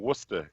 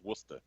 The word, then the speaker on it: Worcester: It's like saying Worcester in Massachusetts, but Worcester is actually spelled Worcester.